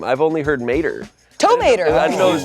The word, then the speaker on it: Tow Mater: talking down to you, I'm saying I Well, never- you're saying my name is Tomato and it's Tow Mater.